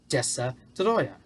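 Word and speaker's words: Destoroyah: godzilla versus tessa troyer yes you have to say it like that it's called dessa troya that's what it was called that and speaking of that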